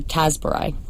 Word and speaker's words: Tasburai: what does this title mean what is a tasar right so am I saying it correctly you